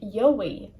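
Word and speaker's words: gheobhaidh: i d h but pronounced like yowie jam to do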